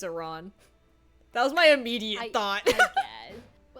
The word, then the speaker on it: Iran: that joke to make sense, you have to pronounce the country wrong cuz it's Iran.